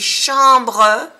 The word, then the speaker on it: chambre: Il y a des chambres. Chambre tiene una vocal nasal en, AM, que se pronuncia en. Lleva una M porque le sigue una B.